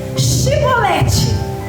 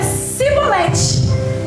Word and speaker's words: chibolete: fala então ele dizia dize pois chibolete que é uma palavra porém ele dizia sibolete porque eu não podia pronunciar assim vem então pegavam